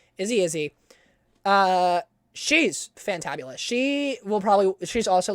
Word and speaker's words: Izzzyzzz: It's Izzy, but it's spelled IZZZYZZZ. 3 Z's, first letter I, 3 Z, Y, 3 Z. Izzy.